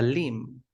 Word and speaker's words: limb: the first one the Lim it's not limp no limb Lim the B is not pronounced okay please read the